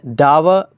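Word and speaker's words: dour: It was grave news to finish a door day. डोर भी पढ़ा जाएगा, लेकिन इसको मेरियम वेबस्टर में डावर प्रोनाउंस किया जा रहा है।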